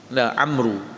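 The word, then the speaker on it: عمرو: Amru bin Akhtab al-Ansari, bukan Umar. Umar bin Khattab lain. Ejaan Umar ain mim ra, Umar. Kalau Amru ain mim ra waw. Amru. Jadi beza sikitlah.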